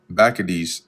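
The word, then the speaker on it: Bacchides: He commanded also that the hostages that were in the tower should be delivered him being those that uh Bakades which that's the actual correct pronunciation.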